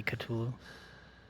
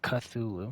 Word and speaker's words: Cthulhu: that's it might be katulo that's that's how you pronounce it right katulo or is it cthulhu i think it's cthulhu but i think we're cthulhu